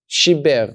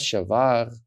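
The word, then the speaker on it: שיבר: Now, the fact that there's a Yod that appears here tells me that I'm supposed to pronounce the E here. Shiber. Not something else, not Shavar or Shover or something else. I'm supposed to pronounce the letter E.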